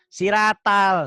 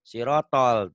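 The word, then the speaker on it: صراط: tanpa guru di sini bukan siratal ini ganti SH SH r-nya benar tapi ganti o Siro o-nya dobel ya Siro bukan siratal siratol Tuh kan gampang kan siratol siratol di sini enggak ada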